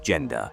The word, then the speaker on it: Jenda: machines, wires, vigil, surrounded by his wife, Jenda, pronounced Jen Da, and closest friends.